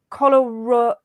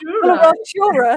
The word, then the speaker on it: coloratura: I'm going to bring Violetta in here now, actually, because she's going to pronounce, or I'm going to say, Colorado. That sounds like an illness. Coloratura soprano. That's it.